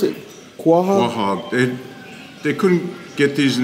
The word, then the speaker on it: quahog: How do you pronounce it? Quahog? Quahog.